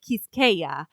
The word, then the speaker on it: Kiskeya: And he sent me like a voice memo, and he was like, Kiskeya, and he kept on saying it for me. And it was so he said the S in it. Yeah. Kiskeya.